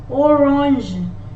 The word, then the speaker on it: orange: When G is followed by E, I or Y, in French, the sound for letter G will be J. J. Giraffe, orange, because G is followed by the letter I, which is here in the list, and here G is followed by the letter E, which is also here. So in this case, letter G is pronounced as J.